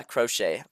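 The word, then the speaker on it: Croce: Yeah, Crochet.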